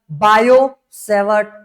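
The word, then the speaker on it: Biot–Savart: Topic होने वाला रहेगा बायोसेवर्ट लॉ। ठीक है? बायोसेवर्ट लॉ। बायोसेवर्ट लॉ इसका स्पेलिंग में थोड़ा सा मतलब कि कंफ्यूजन हो सकता है। स्पेलिंग में टी साइलेंट होता है।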